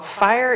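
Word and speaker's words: FHIR: think first of all fire is going to fast healthcare interoperability resource spelled f-h-i-r it's like the new hipaa you got to spell it right right and so i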